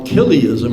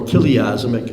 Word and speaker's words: Chiliasm: that is another study called kism or kazm I've heard it's pronounced both ways I think kazm is is probably the correct way kism and what that